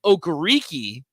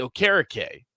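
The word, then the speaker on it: Okereke: kind of did but people are like yeah no we're gonna say bobby okariki did that for the colts but it's actually bobby o'carrake i don't know but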